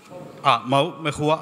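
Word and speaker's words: Mhow: മെഹുവ, അവിടെ മെഹുവ എന്നാണ് അവരുടെ ഒരു ഉച്ചാരണം.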